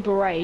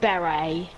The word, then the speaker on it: beret: I think you mean beret, not berry.